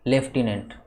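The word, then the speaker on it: lieutenant: तो उसको याद करने के लिए हम गलत प्रोनाउंस करके याद करेंगे। जैसे सबसे पहले लाई, LIE, लाई, यू, टेनेंट, live टेनेंट, इस तरीके से बोल के हम याद करेंगे और उसका सही प्रोनाउंसिएशन होता है लेफ्टिनेंट, तो ऑप्शन बी करेक्ट होगा।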